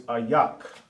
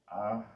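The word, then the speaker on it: איך: How in Hebrew is ayak. Ayak. Just like I said, I'm not always going to give you, I'll pronounce it to you, but you got to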